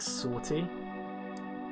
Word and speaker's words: 50R-T: uh 50 rt and it's pronounced like sorty that's how you say their name and they describe it